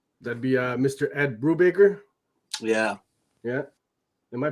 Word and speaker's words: Brubaker: they show up that'd be uh mr ed brubaker yeah yeah am i pronouncing that right yeah yeah you said it